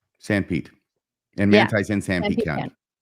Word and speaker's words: Sanpete: Sorry, was that how Sanpete is pronounced? I would think so. Yeah, that's right. Sanpete.